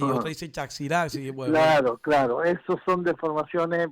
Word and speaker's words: Chaxirasi: gente dice, no, es Chajirasi, otra dice Chaxirasi. Bueno, Claro, esos son deformaciones porque teniendo en cuenta que la X se pronunciaba ja o ji.